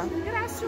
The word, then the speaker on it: Grácio: É, como se pronuncia? Grácio mesmo.